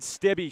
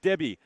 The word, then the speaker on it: Stibbe: You could say it was the Cade Stibbe show. That's right. It's pronounced Stibbe, not Stib.